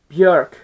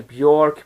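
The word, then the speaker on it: Björk: from town first so the first album is bjerk with post a lot of people have actually mispronounced her name they say bjork but according to some of the interviews she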